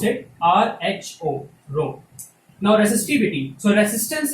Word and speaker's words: rho: We pronounce it RHO, rho.